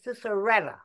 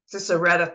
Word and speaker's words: Cicerella: I just wanted to say the pronunciation of Miss Jones's name is Cicerella. Cicerella, thank you.